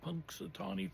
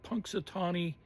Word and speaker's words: Punxsutawney: You know, they spell it Punxsatawney. Punxsutawney Phil.